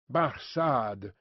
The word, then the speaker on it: Barsad: "Barsad," said Defarge, making it French by pronunciation. But he had been so careful to get it accurately that he then spelt it with perfect correctness.